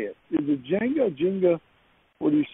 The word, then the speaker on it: Jenga: Is it Jenga? What do you say? I say Jenga with an E, not Jang with an A. Jenga. I was saying Jenga, but it's Jenga.